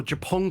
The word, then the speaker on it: Japon: the big question right Japan Corp or japon Corp sorry uh because of course pronunciation pronunciation who would have known Japan and French of japon it's we're learning every